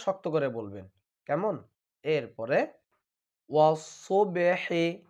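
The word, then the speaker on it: والصبح: এরপরে ওয়াসসুবহি, এখানে খেয়াল করুন সদ হরফটি হচ্ছে মোটা হরফ, এই জন্য সকলেই মোটা করবেন।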